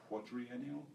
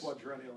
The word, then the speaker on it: quadrennial: And Martin Sorrell, the WPP CEO, often talks about these years as quadriennial. Is that the right word, Frank? Where you might have added a syllable there, I think. Yes. Quadrennial, I think.